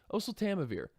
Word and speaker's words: oseltamivir: year gosh I can never remember how to pronounce this thing oseltamivir oh so Tama vir that's it oh so Tama vir is a